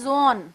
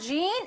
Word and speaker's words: Jean: down now who is gene gene is presumed pronounced as zone okay we will pronounce gene it's not gene it's zone and pure is pronounced as pure